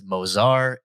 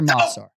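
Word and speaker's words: Movsar: the octagon's name is mozar ivloyev mozar okay i can surely tell you that first name is not accurate let's hear masar all right so here's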